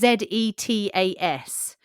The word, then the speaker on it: Zetas: apparently it's pronounced with an S.